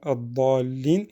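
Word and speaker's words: الضالين: Et là, vous avez vu, dans le mot ad-dallin, on a allongé beaucoup plus que par rapport à Maliki Yawmiddin.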